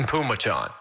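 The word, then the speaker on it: Phommachanh: i've looked it up so it's t-a-i-s-u-n that's pronounced tyson and p-h-o-m-m-a-c-h-a-n-h it's tyson pumachon really tp tyson pumachon all of that just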